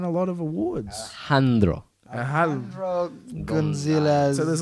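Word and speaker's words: Alejandro González: Yeah, And that's that guy who I just can't pronounce his name, Guanajo, he won a lot of awards. Handro. Alejandro Gonzalez.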